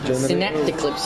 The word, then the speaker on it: Synaptaclipse: Now, how do I pronounce this? Synaptaclipse. Synaptaclipse.